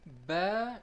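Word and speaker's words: باء: as you can see bear is represented by the yellow circle here it is pronounced from our outer dry part of the lips this is the next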